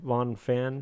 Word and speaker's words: Von Fan: I don't know how to pronounce the last name now. Because I swear, like on other podcasts, I swear to God, like Candace, I swear I called her Van. Anyways, Von Fan. Don't say Van.